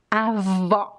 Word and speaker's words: avó: Avó.